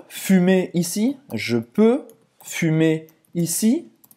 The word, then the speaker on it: fumer: Roberta, já explicou para fazer esse U, esse biquinho. Faz a boca do U e fala I.